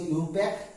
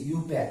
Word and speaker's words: IUPAC: ইউপ্যাক, এর উচ্চারণটা হচ্ছে ইউপ্যাক, IUPAC, ইউপ্যাক।